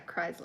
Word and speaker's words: Chrysler: but christ chrysler yeah chrysler chrysler in our area they say like almost like it sounds like it's a zed sound now for that one